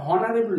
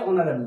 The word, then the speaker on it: honorable: তাহলে এখানে আমরা কি দেখলাম যে যেমন আমরা এমটা কনসোনেন্ট দিয়েছি কিন্তু সাউন্ডটা ভাওয়েলের মধ্যে দিচ্ছে, ঠিক এইরকমই হনারেবল নয় বরং কি আছে, অনারেবল দিচ্ছে।